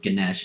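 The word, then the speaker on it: Ganesha: confused by his name it is spelled with an A at the end but it is pronounced Ganesh not negate Ganesh and he is a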